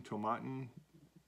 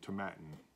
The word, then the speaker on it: Tomatin: scotland established in 1897 tomatin to rhyme with satin so to matin so it's to matin um is one of